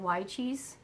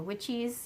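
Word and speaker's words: Wyche's: garden i'm doing the dr y cheese or witches depending on who you learn to pronounce it from which is a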